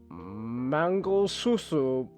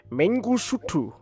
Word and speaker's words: Mangosuthu: It's Mengusutu. I still butchered that, but the H is silent in this pronunciation.